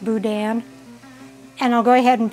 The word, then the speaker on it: boudin: the boudin and if i call it boudin it's because what i used to call it it's supposed to it is pronounced boudin and i'll go ahead and break that up